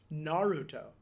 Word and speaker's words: Naruto: Yeah, please pronounce this correctly so my anime-loving son doesn't hate me. Naruto? Naruto.